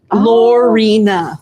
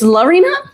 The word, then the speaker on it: Lina: Lorina. No, cuz she said Lina. It's Lina. Lina. We've all been saying your name wrong.